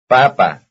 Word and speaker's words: papa: Here is potato and the other new word. Both have the stress on the second last syllable. Number 41. Papa.